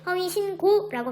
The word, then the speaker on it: 허위신고: 이때 니은과 기역은 어간과 어미의 관계가 아니어서 이 기역이 된소리대기가 일어나지 않고 그대로 허위신고라고 발음해야 되고요.